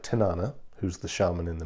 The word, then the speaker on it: Tanana: Tanana, or Tanana, as it's pronounced actually in Alaska, is a place in